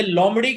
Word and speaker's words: लूमड़: ये लोमड़ी का मेल नहीं होता। मैनू रोल भी हमेशा जेंडरलेस ही दिंदे ने। लूमड़ असल में इसमें बे भी लिखा जाता है, बाज लोग नहीं प्रोनाउंस करते।